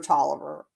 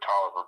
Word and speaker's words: Taliaferro: Tolliver. Yeah, well, yeah, I don't know how people got the name Tolliver out of Taliaferro, Yes. but it's spelled Taliaferro, but everybody pronounces it Tolliver for some reason.